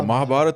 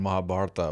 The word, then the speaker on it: Mahabharata: bat Mahabharat actually yeah Mahabharat would be the right one and Mahabharata would be the the